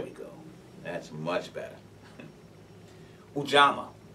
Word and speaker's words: Ujamaa: Ujamaa, or some people say Ujamaa. Pronunciations may differ.